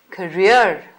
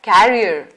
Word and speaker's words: career: the word c-a-r-double e-r is pronounced as career not as carrier as some people mispronounce it let's look at the